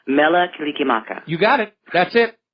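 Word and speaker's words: Mele Kalikimaka: Mela Kilikimaka.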